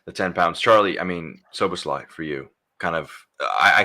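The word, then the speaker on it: Szoboszlai: Well, yeah, I mean, it's given me a few days to practice pronouncing his name. So Soboslai, there we go, got it right first time.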